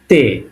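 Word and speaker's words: Т: এটা রাশিয়ানে বলবে তে, উচ্চারণ হবে ত এর মতো।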